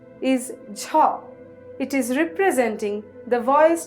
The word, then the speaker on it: ঝ: the Bali letter th the next letter is Ja it is representing the vo aspirated alop palal